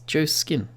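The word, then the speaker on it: Joskin: I'm pretty sure it was pronounced Joshskin, but we will actually have a look. Yeah, it's Joe Skin. There's no Josh Skin.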